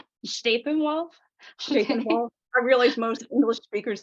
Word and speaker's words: Steppenwolf: else most people say Steppenwolf but I'm kind of pretentious I use the German pronunciation shape involved stapenwolf I realize most English